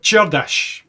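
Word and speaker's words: Csárdás: Next up we have Czardas, which apparently is the proper way of pronouncing that. I was told by some Hungarians from Hungary that's how you say it.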